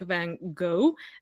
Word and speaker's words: Van Gogh: if I'm not mistaken the American version is like van go and the correct French